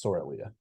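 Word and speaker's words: Sorilea: cyrilia sorely yeah um for my glossary pronunciations correctly it's sorelia and if I'm also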